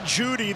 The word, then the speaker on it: Jeudy: Jerry Jeudy, the E is silent.